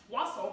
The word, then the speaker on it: wassail: you how to make Wasel is Christmas and that makes tonight Twelfth Night which what better way to celebrate Twelfth Night then to make what sale now it's also sometimes pronounced Russell but it features in